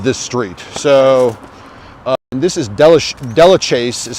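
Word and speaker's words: Delachaise: i believe it'd be delicious um but you know we uh we're a little bit liberal with the french pronunciations well just the pronunciations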